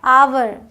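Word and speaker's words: hour: और अमेरिकन का फर्क यह क्या है आवर इसे हावर नहीं पढ़ना आवर इसे हेयर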